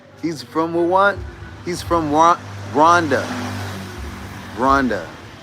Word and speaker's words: Rwanda: He literally corrected how I say it. He told me all of us say Rwanda. We say Rwanda wrong. It's not Rwanda. It's Rwanda. Like, they pronounce it Rwanda.